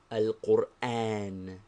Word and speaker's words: القرآن: Al-Qur'án. Be careful to pronounce it thus: al-Qur'án.